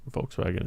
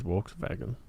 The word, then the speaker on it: Volkswagen: So the W is V and the V is W in German. Like Volkswagen is Volkswagen.